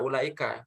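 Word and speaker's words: أولئك: Cara bacanya gimana nih? Wawunya nggak dibaca ya. Jadi gimana? Jadi ini ulaika ya, bukan ulaika. Wawunya nggak dibaca. Jadi ulaika.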